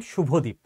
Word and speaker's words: শুভদীপ: আমার নামের বানান শুভদীপ এস ইউবি এইচ এ ডিআইপি। বাংলায় তালব্যস সেই অনুযায়ী এসএইচ হবার কথা। বাট আমার বার্থ সার্টিফিকেটে এসইউ ছিল। তো আমি এসইউই লিখেছি সারাজীবন।